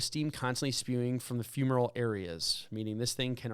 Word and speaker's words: fumarole: Let's find out if it's fumarole. Did I say it right? Let's see. Hold on. Fumarole. Fumarole. You sounded right. I sounded right. Fumarole. It's not fume, it's fume. Fumarole. Like fumes.